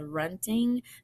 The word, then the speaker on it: Hrunting: Beowulf sword is called Hrunting the H is silent kind of in the